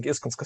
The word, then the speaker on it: Iskonsko: I'm doing fine, and well done on pronouncing Iskonsko Studios.